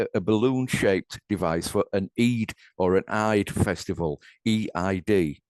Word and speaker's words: Eid: So anyway, I understand it was a balloon-shaped device for an Eid or an Eid festival, EID.